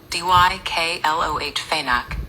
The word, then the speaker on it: diclofenac: You pronounce the drug diclofenac as dykloh phenac.